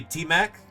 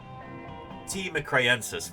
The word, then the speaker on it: T. mcraeensis: Amicia says, will we say T-Mac? You could if you want to. But T. mcraeensis would be the proper way to say it.